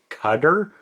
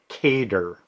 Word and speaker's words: Qatar: It's notQatar and it's not Kar. I can't really do the exact like Arab local Arab pronunciation because I would just sound like a clown. But the correct pronunciation of this country is like guitar.